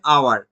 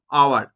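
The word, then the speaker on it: hour: Example কি দেওয়া আছে, অ্যান আওয়ার, আমরা এইচটার উচ্চারণ করি না, আমরা ও থেকে শুরু করলাম, আওয়ার, এইচটা এই জায়গাতে silent, H is remain, H remains silent, এইচটা এই জায়গাতে সাইলেন্ট রইল।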